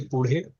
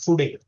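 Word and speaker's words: पुढे: for example, Marathi, for example, there are people who say pudhe, Yeah. which is go ahead, and the same word is pronounced as fude with a f, which is a wrong thing by some people.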